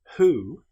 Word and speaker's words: who: However, with the word who, this is pronounced as if the W didn't exist. It's pronounced like it was just starting with the sound H.